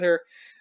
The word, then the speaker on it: H.E.R.: Wikipedia page so um born in 97 uh pronounced her an acronym having everything revealed okay uh she